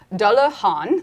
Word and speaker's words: Dullahan: Dullahan, like Han Solo.